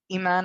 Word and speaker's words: Iman: My name is Iman. I know it's spelled like Ayman, but the Arabic for Iman means faith.